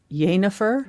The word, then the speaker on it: Jennifer: But Jennifer isn't really a name u as much because like Jane that's yer because we say it as we spell it. Yanifer y no I said Jane not jenifer.